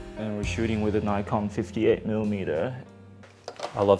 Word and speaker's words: Nikon: Nikon. Nikon. Nippon Kogaku. There's always like an argument of whether which way is the right way to say it. The right way is the Japanese way.